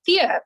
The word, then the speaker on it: Thea: Is it Tia or Thea? You should hear. It is Thea, but you Yeah, self-corrected, okay.